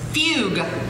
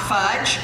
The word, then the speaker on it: fugue: say fudge you see it's spelled f-u-g-e fugue not fudge but what a waste